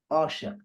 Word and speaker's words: عاشق: As if really, you know what, Abdullah, as if you don't have the ዐyn at the beginning. Think about that. There is no ዐyn at the beginning. Okay. Just Asha. It means that one is really not pronounced.